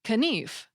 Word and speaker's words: knif: Old English for example the K in knife which was spelled k n f was pronounced so the word sounded like kenif although people speaking other